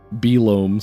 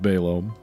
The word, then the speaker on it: Belome: This game has no pronunciation guide. Belome sounds weird, and Behlome sounds weirder, so I'm going with Balome.